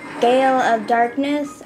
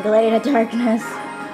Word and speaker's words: Gale of Darkness: I kept saying it wrong. I was shocked to find out that it was actually called Gale of Darkness than Glade of Darkness.